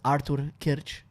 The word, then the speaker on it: Artur Kyrcz: I'm going to pronounce it's Artur Kyrcz. That's going to be a hard one for a lot of people to pronounce.